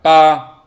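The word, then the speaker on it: 八: 옆에 써 놨는데 얘를 빠 자 a 위에 쭉 직선이 그어져 있습니다요 직선에 맞게 소리를 옆으로 약간 길게 쭉 소리를 내면 됩니다 빠 자 여덟 8이란 자입니다 자 그다음에 이성 있니다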